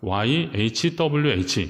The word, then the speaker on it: Yahweh: 요오드 해 와우 했는데요 요오드 일단 영어로 말하면 yahweh 이렇게 되는 거예요 근데 요게 이제 여호와 를 의미하는 겁니다 그래서 영어 성경이 영업 오픈 분석이나 신학 서적이나 있는데 보면 그 2 yahweh 이렇게 쓰면 이제 여호와 라고 하는 히브리어 받음을